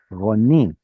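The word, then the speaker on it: רָנִּי: This right here has a strong doubling dagesh in the nun, which means that this is a closed syllable that is unstressed. Ladies and gentlemen, that is a kamatz katan, Roni.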